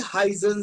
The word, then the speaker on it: heißen: Wie heißen Sie? Wie heißen Sie? Remember this? It is known as asset. It is known as asset in German and it sounds like double S.